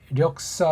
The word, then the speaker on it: 력사: 있는데 그중에 우리 오늘 력사 외곡 역사인데 원래 우리 본디 발음하면 력이 해야 되죠 그렇죠 역사 외곡 왜곡은